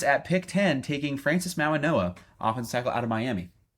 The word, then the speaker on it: Mauigoa: Yeah, I think like the G in Polynesian pronunciation, I think that's kind of a More of an N sound.